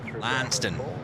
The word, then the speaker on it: Launceston: Launceston in Tasmania because you would say normally what lanston lanston yes named after a uh a large town in Cornwall you can't say that mate it's lanston the one in cornwall's